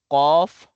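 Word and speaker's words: ق: ko ka ibig sabihin pinagkaiba nila ito po ay makapal bigkasin ko qof kaf kaf qof kaf malina po yan ito ay manipis kaf kaf kaf ito makapal kof qof qof naintindihan nawa ay naintindihan po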